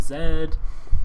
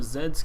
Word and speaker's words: Z: needed x y and z and why did i say zed americans say z but you know zed's completely legitimate as well i'm not trying to e-legitimize zed i actually think zed sounds cooler we should all call